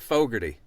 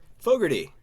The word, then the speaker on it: Fogarty: Is that how you say it? Fogarty. Fogarty. Yeah, just like John Fogarty of Just CCR. like John Fogarty. One letter spelling difference.